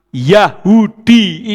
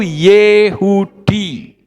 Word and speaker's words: Yehudi: Makanya kalimat Yahudi itu salah. Yang betul itu Yehudi. Itu yang betul.